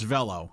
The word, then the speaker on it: Velo: So I've been calling your restaurant Velo all my life, or since you've been there, and nobody's corrected me. So Velo, if you learn nothing else today, folks, it's Velo, okay?